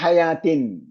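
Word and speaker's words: حياة: വാവിന് ഉച്ചാരണമില്ല. പക്ഷെ എഴുത്ത് വാവിലാണ്. അലിഫാണ് ഉച്ചരിക്കേണ്ടത്. ഹയാത്ത് എന്നാണ് വായിക്കേണ്ടത്. എഴുത്ത് ഹയൂത്ത് എന്നാണ്.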